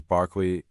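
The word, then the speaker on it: Berkeley: I remember seeing a Barkley University. You have to say that obviously the pronunciation is Barkley uh you know what a graduate is called.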